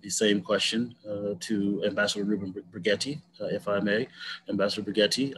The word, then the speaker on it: Brigety: Just a point of process, my name is pronounced Brigety.